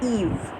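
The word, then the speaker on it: Yves: is pronounced as east in French it is pronounced as Eve then it's thyroiditis thyroiditis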